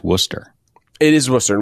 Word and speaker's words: Worcester: uh if you're from out of town it's pronounced Worcester it is Worcester not Worchester just to just to be clear right because